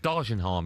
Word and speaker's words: Dagenham: Dargenham, it's pronounced.